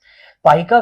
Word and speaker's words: पाइक: पाइका विद्रोह ऐसा ही एक विद्रोह था। पाई का उच्चारण पाइको, जिसका शाब्दिक अर्थ है